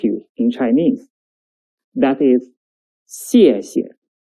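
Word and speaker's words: 谢谢: That is, 谢谢, 谢谢. The second 谢 is a neutral tone, which is short and light.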